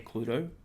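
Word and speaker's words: Cluedo: Uh, cuz of course Clue aka Cludo, which is the correct pronunciation of the board game.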